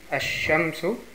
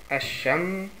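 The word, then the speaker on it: الشمس: Die Lam wird nicht ausgesprochen. Zum Beispiel, also das Beispiel ist Ash-Shamsu. Und die muss Ash-Shamsu.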